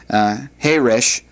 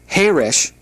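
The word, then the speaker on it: חרש: For example, the word Heresh with the accent on the last syllable means deaf, whereas the word Heresh with the accent on the first syllable means quiet. So Heresh, Herish. There's a difference there, and as a result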